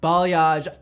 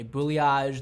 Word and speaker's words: balayage: a interesting word that a lot of people can't pronounce they say boo Liege they say college they say but bill age like I've heard everything everything and I laugh every